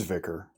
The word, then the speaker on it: vicar: residence of a biker is it vikar or vicar vicarage it is vicar vicarage vicar got it she went hastily to